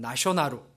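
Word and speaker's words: ナショナル: 이제 일본 말로는 나쇼나루 이렇게 이제 번역을 하죠. 그 참 일본 사람들 그 영어 발음하는 거 보면 재밌어요. 내셔널을 나쇼나루 이렇게 합니다.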